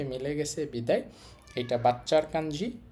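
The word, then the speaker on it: 子: তো এইটা একটা বাচ্চার ছবি, বাচ্চার ছবির সাথে মিলে গেছে বিদায় এটা বাচ্চার কাঞ্জি বা শিশুর কাঞ্জি।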